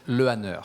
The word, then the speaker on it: Lehanneur: Odile Decq and Mathieu Lehanneur. I'm sorry, did I say that all right? Lehanneur? It's so hard for me. Lehanneur. Lehanneur. In French, we said Lehanneur.